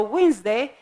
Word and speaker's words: Wednesday: of the week so Wednesday the D it's written but not pronounced make here we have